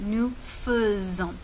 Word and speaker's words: nous faisons: Je fais, tu fais, il fait, nous faisons, vous faites, elles font. Très bien. Attention à la prononciation ici. C'est nous faisons.